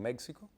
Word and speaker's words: México: ¿Estaría mal dicho si dicen México? Exactamente, ahí lo apropiado es pronunciar esa X como J.